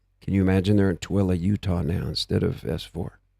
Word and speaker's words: Tooele: You know, I've heard most of this stuff that was at S4 has moved to Tooele, Utah. Tooele. I think that's spelled something like Tool, like Tuelle.